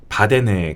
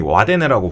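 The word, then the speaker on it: Wadden: 바데네 갯벌이라고. 네. 이게 우리나라에서는 흔히 와데네라고 부르는데 네. 현지 발음으로 하면 바데네입니다. 바데네. W로 시작해가지고 W로 그렇죠. 시작하고. 와데네라고. 예. 북유럽 쪽은 W를 V로 맞습니다. 네. 발음하는 거죠.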